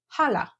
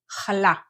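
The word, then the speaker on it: חלה: it like a local one it is not Hala it doesn't have an H at the beginning it has the sound that you learn very quickly how to perfect in the first module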